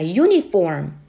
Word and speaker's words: uniform: 난다면 모음이지만 자, 이번에 여기에 나와 있는 uniform처럼 U라고 발음을 하게 된다면 자, 이것은 E와 U라고 하는 두 개의 모음을 한꺼번에 소리를 내는 거예요.